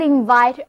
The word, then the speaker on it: invite: How I wishThat I could invite all of you to our program. 那么邀请大家就是 invite all of you, invite, I-N-V-I-T-E, 邀请，重音放在第二个音节上，后一个 I 字母发作 I 的双元音 invite, 邀请。不过啊，我们的演播室特别小，导演说我们还是通过屏幕交流吧，所以我们还是像往常一样通过节目与大家一起沟通。那么我们首先来看 invite，它的词根 vit 表示渴望，前面加上一个 in 前缀表示向里，后面是一动词后缀。那么 invite就是我非常想邀请大家到我的家里来做客，邀请 invite。